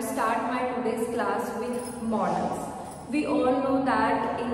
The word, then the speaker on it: modals: with the help of modals, one more thing, pronounce it modals. मैंने बहुत सारे users को देखा है वो इसे modals कहते हैं. This is not the correct pronunciation. The correct pronunciation is modals.